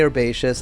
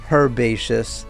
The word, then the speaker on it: herbaceous: trees herbaceous flower beds no I didn't say that wrong Americans say herbaceous I know British people say herbaceous fine say it say it that way I don't care you say it your way I say it my way an apple orchard Wildflower